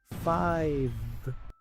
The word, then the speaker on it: five: Aquí la V se pronuncia como una F suave. La E al final es muda. Five.